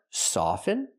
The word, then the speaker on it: soften: Remember, the first word, often or often, both pronunciations are correct. But the second word, soften, never pronounce the T. It's always silent.